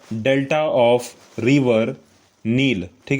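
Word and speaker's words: Nile: the delta of river नाल Africa letter नाइल नहीं होगा बापू नील होगा रिवर नील नील नदी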